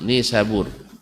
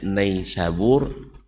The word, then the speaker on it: Nisabur: Ya, kalau saudara-saudara apa namanya banyak para penulis atau para ustaz membacanya nais sabur ya wallahuam. Saya menerima langsung dari orang yang sana ba bukan naik sabur bacanya tapi nisabur ya ni sabur langsung orang sana.